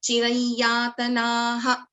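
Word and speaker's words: चिरं यातनाः: But there is an Anuswara and the Anuswara is followed by Ya. So this can be pronounced as Yami chirayatanaha. So there is an Anunasika coming over here.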